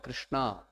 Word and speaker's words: Krishna: into our understanding of krishna therefore the scriptures are specifically telling us how to actually fix the mind on actual supreme lord krishna so the name krishna two syllables krishna the name the name